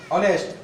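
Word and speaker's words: honest: पड़ेगा ओनर जब भी ओ से पहले ह होगा तो वो ह को नहीं पढ़ना है बाबा ए बाबू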